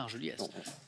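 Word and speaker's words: Argeliers: Si je regarde Argelier, A-R-G-E-L-I-E-R-S, on dit bien Argeliès.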